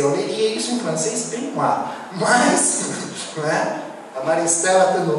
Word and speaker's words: Benoist: Vocês que vão muito para a França, como é que você lê isso em francês? A Maristela vai. É Benoit ou Benoist? Benoit. É que eu pensei, eu leria isso em francês Benoit.